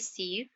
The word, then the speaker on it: sieve: सुअर, सीव SIEVE सीव, जो इसका प्रोनाउंसिएशन है that is सीव SIV, एंड the Hindi word